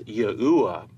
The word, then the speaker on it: Yahuwah: To lay out our case that God's sacred name is correctly pronounced as Yahuwah, we're going to break